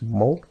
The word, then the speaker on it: molt: The word for very in Catalan is molt. And that T right there, a lot of times you don't really pronounce that.